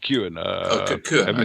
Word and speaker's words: Cuan: book balala i'm going to pronounce it it's pronounced q and ah corrected you but uh don't worry about it's